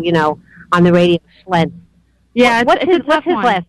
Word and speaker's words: Schlientz: Schlientz? Yes. Is that the right way to pronounce it? Yes, that's perfect.